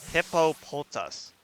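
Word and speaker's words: Hippopotas: I'm not looking at the name, I always mispronounce it. It's It's Hippopotus.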